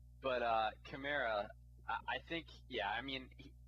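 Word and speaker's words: Kamara: of thing when it when are you gonna pronounce his name correctly its camara Tamara come on Tamara come there I like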